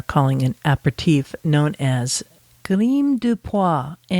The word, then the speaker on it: Grimaux: It's actually not pronounced as the Grim. That's how we would anglicize it, in English.